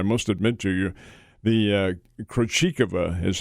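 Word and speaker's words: Krejčíková: The Krejcikova is how she pronounces her name.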